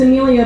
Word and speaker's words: Emilia: Like my my first name is Amelia, but it's spelled E M I L I A, which makes it look